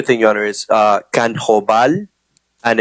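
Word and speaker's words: Kanjobal: the dialect sure thing your honor is uh can hoval and it's spelled k n i'm sorry k a n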